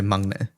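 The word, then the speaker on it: 막내: But when you say it together, it sort of like combines. The middle combines a little bit. But that's not like linguistically. That might be me mispronouncing it a bit. But it's like the way it's phonetically written is makne. So mangne. It kind of Sure. slurs together like des becomes des. Yeah, think of it more like that. But you cut a letter off of that.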